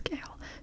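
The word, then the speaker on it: Chaol: His name is Kale. Gale. Don't ask me why it's pron that's how it's pronounced.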